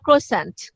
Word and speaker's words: croissant: French থেকে ইংলিশে এসেছে croissant. So this is না, ও এটা ক্রস ও ফ্রেঞ্চ। ওরা এটার মূল প্রোনাউন্সিয়েশন হচ্ছে ক্রসো, আর আমেরিকানরা উচ্চারণ করে ক্রোসেন্ট, ওরা ফুলটা ক্রোসেন্ট, উচ্চারণ আমি করে।